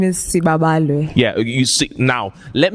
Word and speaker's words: Siba: Please pronounce it correctly. My name is Siba.